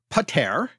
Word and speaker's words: pəter: And so pater, the first syllable was unstressed, and the stress falls on the second syllable there.